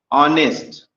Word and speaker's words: honest: ठीक है, ऐसे ही अगर हम दूसरे शब्दों पे जाएं, ये देखो HONEST, ये आपका क्या हो गया, ऑनेस्ट। ऑनेस्ट में आपका क्या है, यच से आपका वर्ड स्टार्ट हो रहा है, लेकिन प्रोनाउंसिएशन इसका हो